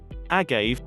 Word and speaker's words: agave: Agave, pronounced agave, is a syrup manufactured from the blue agave plant that is mostly produced in Mexico.